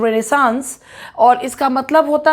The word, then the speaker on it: Renaissance: इट is pronounced रेनेसांस और इसका मतलब होता है फ्रेंच वर्ड रीबर्थ।